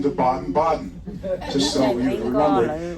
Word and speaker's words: Baden-Baden: It looks like it's Baden-Baden, but they pronounce it Baden-Baden.